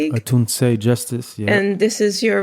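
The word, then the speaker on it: Atunse: And there's the Antus, am I saying it right? Antus Justice League. Anunce Justice.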